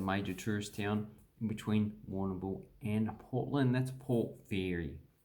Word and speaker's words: Warrnambool: And then we have an indigenous word, Warrnambool. Warrnambool. This one we just pronounce all of it. War, none, bull.